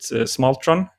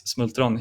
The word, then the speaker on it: Smultron: It's in I think you would pronounce it Smaltron, but in Smalltron. Swedish, yeah, in Swedish it's Smultron.